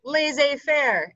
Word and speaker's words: laissez-faire: right and it is it comes from the french so uh it means